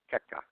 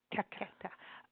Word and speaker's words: Checca: It's ricotta gnocchi alla Checca. Checca.